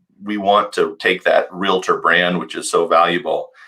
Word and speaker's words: realtor: want to take that realtor brand which is so valuable and elevate it in the minor consumers where there's a reason that real tor is pronounced like doctor we're high level we're